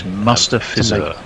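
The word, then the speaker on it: Mustafizur: It's Mustafizar.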